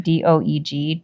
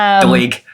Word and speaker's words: Doeg: a witness to this who I call Doug. I'm sure that's not how you say his name d o e g Doug I like to call him Doug too. I think it's like Doeg or something.